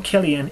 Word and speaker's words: Cillian: the comments section and correct me on the pronunciation of his name saying it's Cillian and not Killian I just want you to know they call him Killian in the DVD extras that's my story I'm sticking to it I've always liked